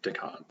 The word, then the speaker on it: Descartes: a bloke called renee descartes and it doesn't sound it's not doesn't sound how it's spelled it's french it's it's different i'm